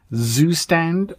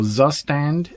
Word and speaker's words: Zustand: never heard of and if I pronounce this wrong I am sure somebody will correct me Zustand or Zustand Z U S T A N D for state management.